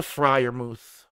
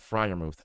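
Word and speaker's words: Freiermuth: end anyway um but let's go to the friar mouth one of the uh you know one of the more exciting names i spell it yeah pat fry your mouth f r e i r muth so let's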